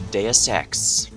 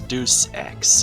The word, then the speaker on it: Deus Ex: and welcome back to deus ex has come to my attention in the summer been mispronouncing this game as deuce x i can kind of